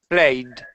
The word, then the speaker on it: played: this is played played I ID just d a d just a d it's like there is no e in there at all just D yeah sorry